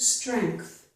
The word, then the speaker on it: strength: Here are two more exceptions, the words length and strength. In these two words, which are both one-syllable words, we do have two sounds for the letters N, G. But this time, we have the sounds and K. We do not have and G.